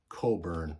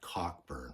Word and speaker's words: Cockburn: Bruce cob record and it is pronounced Coburn not cockburn for all you all